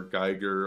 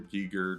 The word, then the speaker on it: Giger: All of the creature design that they ended up keeping and running with were mainly designed by H.R. Geiger or Giger, depending on how you want to pronounce it.